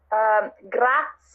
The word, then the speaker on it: grazie: like Spanish but yeah just clarify the correct pronunciation okay thank you in Italian yes so it would be grass yeah so just pretend that this if you're